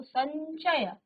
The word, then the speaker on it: संचय: आपने अनुस्वार बनाया तो संचय कहीं ना कहीं यो का आधा यो का उच्चारण आया ठीक है ऐसे ही